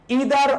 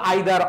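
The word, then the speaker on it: either: একটু খেয়াল করে দেখো ইদার অর অথবা আইদার অর আমরা যদি সেন্টেন্সে দেখি ইদার ডট ডট অর তারপরে যদি দেখি ইদারও বলতে পারো আইদারও বলতে পারো দুইটা প্রোনাউন্সিয়েশন করতে পারো এরপরে বলতে পারো নাইদার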